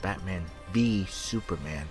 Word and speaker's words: Batman v Superman: I know it's pronounced Batman v Superman, but that is such a stupid title.